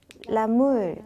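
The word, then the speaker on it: les moules: 그다음에 어 홍합은 라물 그다음에 까멍베르 치즈는 르몽베르라고 하시면 첫 번째 미스용도 잘 마무리하셨습니다.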